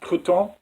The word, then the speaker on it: Crouton: It's actually pronounced Crouton. It's a French name.